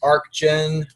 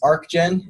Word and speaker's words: Archgen: everybody and thanks for coming out to this Archon workshop the first point of business here is the pronunciation it's arc gen it's a hard cut it's not arch that's